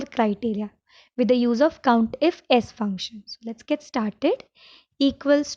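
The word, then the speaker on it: COUNTIFS: you have to use count if s function so if you want to pronounce it it's count ifs count ifs meaning more than one if right so it's multiple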